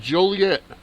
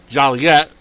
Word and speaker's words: Joliet: In Joliet, town fathers reflecting the pet peeve of hearing their town's name mispronounced Joliet when all local folks know it's pronounced Joliet,